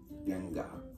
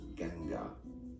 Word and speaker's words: Ganga: Well, depending on the local accent and local language, this can be said as Ganga. Ganga. Ganga. Ganga. But some might pronounce it as Ganga.